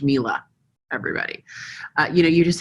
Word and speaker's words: Miele: features appliances you name it you know it's pronounced Miele everybody you know you just have to know